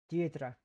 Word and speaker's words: Deirdre: Actually, I need to know how to pronounce this. Because I'm dumb. It's Irish. It's Irish. It's an Irish name. Deirdre.